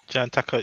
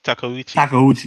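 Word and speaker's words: Takeuchi: John Takachu. Takauchi. Takauchi.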